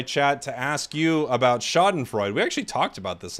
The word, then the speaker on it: Schadenfreude: stream and we over here we call it schadenfreude that's our that's our Pokemon name for it